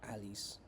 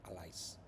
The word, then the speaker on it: allies: through the journeys of alleys and access powers I maybe I should pronounce it allies allies and access powers